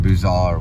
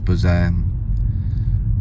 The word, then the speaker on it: Beaux-Arts: Alright, so I did look up a few different pronunciations for B-E-A-U-X. It's a style of art. And Beaux-Arts was one of them. Another one was Beaux-Arts. Beaux-Arts, I think, is one pronunciation.